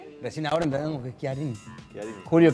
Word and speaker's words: Chiarini: La CH se pronuncia Chi. Entonces es Chiarini. Yo lo escuché muchas veces Chiarini y lo voy a seguir corrigiendo.